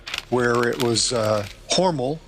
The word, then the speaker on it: Hormel: where it was uh horal not Hormel hor that's how they that's that's how they pronounce it in Austin it's horal um but I grew